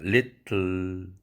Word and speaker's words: little: little, table, pencil, 펜슬 연필할 때 슬 하는 건 실이 아니고 슬입니다.